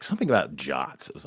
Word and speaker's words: JWT: it uh for those listening when he says jot he he means jwt's um which how you pronounce JWT um but I think people would